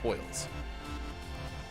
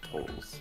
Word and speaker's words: tolls: Because I always thought it was tolls, but that recently I've heard a whole bunch of toils. Oh, I've never heard toils till today. Which makes me wonder if I've been saying it wrong. Is it No, me? It's for whom the bell tolls.